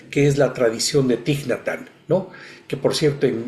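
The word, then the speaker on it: Thích Nhất Hạnh: mundo conocemos también que es la tradición de tignatan, ¿no? Que por cierto en en vietnamita se dice la la ch se pronuncia como ñatan, así lo pronuncian.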